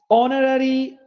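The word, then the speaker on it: honorary: অনার্স, অনারারি, অনারারি, অনারেবল, একটাও হয় উচ্চারণ হয় নাই।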